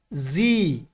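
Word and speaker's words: Z: এরপরে আমরা আগে পড়েছি জেড, কিন্তু এখানে হবে কি জি।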